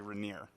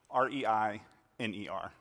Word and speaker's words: Reiner: full name is actually rainier r-e-i-n-e-r naturally i got tired of people pronouncing rainier wrong rainer reiner reindeer so i decided to